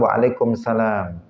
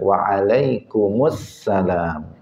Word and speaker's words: Waalaikumussalam: kebanyakan orang Indonesia ini kalau menjawab salam Waalaikumsalam Asalamualaikum Waalaikumsalam Waalaikumsalam Waalaikumsalam enggak ada alnya semestinya apa Waalaikumussalam Asalamualaikum Waalaikumussalam Nah jadi